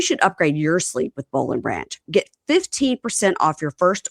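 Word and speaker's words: Boll & Branch: Now it's bowl and branch all the time at our house and we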